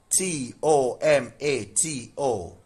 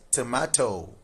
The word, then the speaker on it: tomato: Then two look at um this word t o m a t o in UK English. This is tomato. Tomato. All right. Tomato.